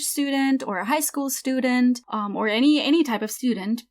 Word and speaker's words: Student: Der Student, a male college student. So I have to say a couple of things about this word. Student, it's pronounced st at the beginning. So st usually, like almost always, makes st.